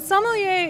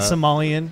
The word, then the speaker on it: sommelier: It's not Somalian. Yeah. No, not Somalian. Somali.